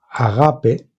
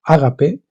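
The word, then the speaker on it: ἀγάπη: capacidad de amor ágape, que mejor dicho es, en griego es agape, así, agape, aunque nosotros en castellano decimos ágape, en griego se escribe agape.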